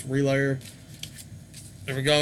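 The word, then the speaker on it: RLYR: I believe you pronounce this band Relayer. It's just R-L-Y-R. And the name of the release is Delayer. So that's what I'm saying. I think it's Relayer.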